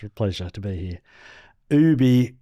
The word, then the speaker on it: OOOOBY: Ubie, it's spelled with four O's, B Y.